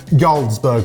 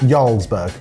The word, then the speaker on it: Jarlsberg: Ysburg. How's that spelled? J A R L. Sorry. J. I completely apologize. In terms of its pronunciation, I didn't know it began with a J.